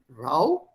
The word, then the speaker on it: row: There's a difference between R-O-W, row, that is chappu chalana of a boat, that is rowing, And this is ROW, same spelling, but pronounced differently. Rao is a jhagda.